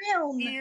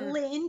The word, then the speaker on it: Erlin: Earln, not Ear- Lynn.